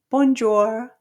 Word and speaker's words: bonjour: first syllable, we have we don't pronounce the N. Okay. B O N together in French makes a nasal sound which is you have to have uh the lips rounded like this. The back of your tongue is going to go up to make that nasal sound. Okay, you have to feel it in your nose.